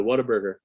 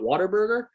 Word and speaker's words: Whataburger: And my mom would always take them to Whataburger. And it's pronounced What-A-Burger, but if you're from Texas, you call it Waterburger.